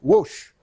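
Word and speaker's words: Łoś: ces deux personnages messieurs woche et vote alors tu amusant de savoir enfin ou instructif de savoir que l barré os accent aigu ça se prononce watch comme l'avait en anglais voilà donc où aoc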